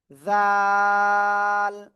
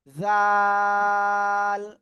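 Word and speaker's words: ذال: জাল জাল।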